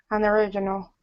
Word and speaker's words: unoriginal: Unoriginal. Right. Unoriginal. Original. Second syllable.